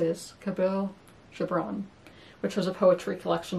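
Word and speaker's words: Kahlil Gibran: I heard I learned how to say this cabil Jabron which was a poetry collection that was a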